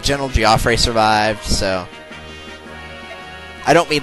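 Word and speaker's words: Geoffrey: General G uh giofre I know that looks like Jeffrey but in radiant Dawn when they have his name in a cut scene that the announcer will talk about they pronounced it giofre so his name looks like Jeffrey but it's giofre I know very strange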